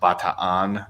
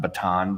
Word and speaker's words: Bataan: happened like as I learned it's called It's pronounced Bataan not baton death large and you know see where like